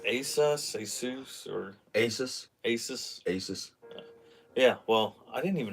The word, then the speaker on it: Asus: Is it pronounced Asus, or Asus? Asus.